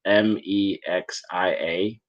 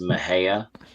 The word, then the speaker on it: Mexia: was I looked it up it's it's spelled me x i a it's pronounced Maha um like Tas but but a lot of